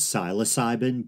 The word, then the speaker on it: psilocybin: Day psilocybin and I often hear people say psilocybin and I say psilocybin often but I looked it up and apparently the proper pronunciation is psilocybin but it might be a tomato tomato Niche